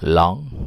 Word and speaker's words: langue: Oke, itu mungkin kira-kira cara membedakan bahasa yang langoi, atau yang konsep awalnya langage dulu atau language bacanya, kemudian langoi bacanya long, kemudian parole bacanya parol.